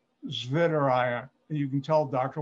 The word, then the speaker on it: Zwitterion: Zwitter ion. This is Zwitter ion. In German, a W is pronounced like we say V.